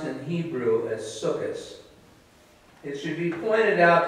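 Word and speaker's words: Sukkot: holiday is celebrated under the Jewish name of sukas it's spelled s-u-k-k-o-t and it's pronounced in Hebrew as sukis it should be pointed out that the holiday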